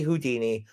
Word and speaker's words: Houdin: There would be no Harry Houdini, world's most famous magician, without Robert Houdin. Again, I'm pronouncing it the French way, Houdin, but it's spelled Houdin.